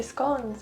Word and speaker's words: scones: Game of Scones, which works if you pronounce scones like that, but here we kind of say scones, so no.